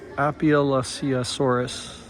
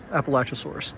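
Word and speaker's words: Appalachiosaurus: All right, next up we've got, and this is called an Apalachisaurus, and I probably butchered that. Appalachisaurus. There we go, sorry.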